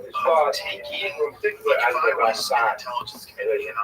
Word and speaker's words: Ramban: Rambam is pronounced with the emphasis on the first syllable, Rambam, and Ramban is pronounced with the emphasis on the second syllable. Rambam and Ramban.